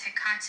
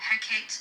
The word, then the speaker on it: Hecate: with hik okay now some people say her name is hik or heate it doesn't really matter to me how you say her name so correcting